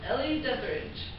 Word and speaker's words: Ellie Deatherage: you tell us your name my name is Ellie deatherage could you spell it for us e-l-l-i-e-d-e-t-h-e-r-a-g-e have you been following